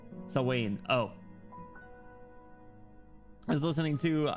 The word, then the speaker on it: Samhain: Samhain is pronounced Sawain.